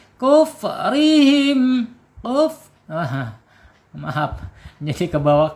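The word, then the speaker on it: كفرهم: Kufrihim, kuf, maaf, jadi ke bawah kop nih. Kuf, kap ya, kap, hamas ya, ak, ingat ak, nggak boleh ku, jangan terbawa hamas.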